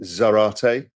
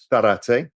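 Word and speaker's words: Zárate: So the one I've got today is, you would pronounce it Zarate. If you lived in Spain, you'd call it Zarate.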